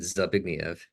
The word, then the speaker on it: Zbigniew: Um, but I think most English speakers still would pronounce it Zbigniew.